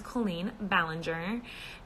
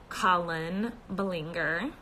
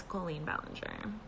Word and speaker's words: Colleen Ballinger: name my name is Colleen ballinger and most people pronounce it Colin Belanger but it's Colleen ballinger how do you like